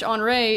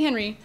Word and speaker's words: Henry: Not to mention, they have the New York Red Bulls French Enterre is I think how they say it. I would say Henry, but I believe they say Andre.